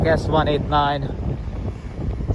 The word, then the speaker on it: S-189: written C1 189 but in Russian language c means s so it's pronounced like s189 sub vessel of the